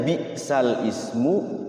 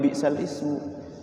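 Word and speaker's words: بِئْسَ الِاسْمُ: Naql itu di situ tulisannya bi'sal ismu, tapi dibacanya bukan bi'sal ismu. Bacanya bi'salismu. Jadi lamnya tadinya sukun, jadinya hidup jadi li, bi'salismu.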